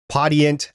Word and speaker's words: Podiant: hate mail, we're aware they do pronounce it Podiant. We are aware of that, but we like to say Podiant here because that's how we read it, because we're American.